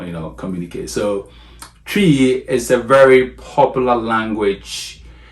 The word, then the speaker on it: Twi: going to talk a little bit about about tree yes tree so tree I know even the